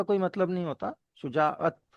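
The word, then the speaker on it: شجاعت: शुजात का कोई मतलब नहीं होता, शुजाअत का मतलब होता है।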